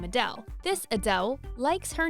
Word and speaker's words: Adele: to deal with the awkward moment of completely mispronouncing your favorite celeb's name. Number 1. Adele.